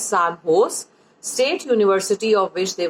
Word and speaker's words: San Jose: this recently sand hose the spelling is si n Jo se but you have to pronounce it it's as San Jose State University of which